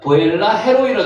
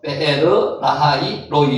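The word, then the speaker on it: באר לחי ראי: 요게 한글로는 지금 번역이 어떻게 되어 있는가 하면 보엘라 헤로이라 되어 있는데 실제 발음은요, 베르, 라하이, 로이 이렇게 되어 있다는 거죠. 베르, 라하이, 로이.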